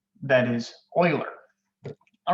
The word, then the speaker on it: Euler: that however i am 100 certain on the pronunciation that is euler all right so euler paths and euler circuits